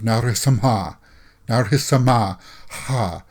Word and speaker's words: Narasimha: See, now you got to, from what I'm being told, the ha at the end of Narasimha ha is very pronounced, right? Is that the way it's supposed to be pronounced?